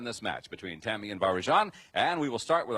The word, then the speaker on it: Varjan: Is it Varjan? Yes. I pronounced it right? Varjan.